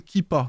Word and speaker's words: Keepa: une extension Google Chrome qui s'appelle kippa ça s'écrit keepa vous ajoutez l'extension sur